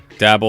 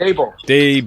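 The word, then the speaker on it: Daboll: Dable. Dable. Like Dable. Day and Bull. Dable. Got it. Yeah. Dable. Dable. Yeah. Like table, but Dable.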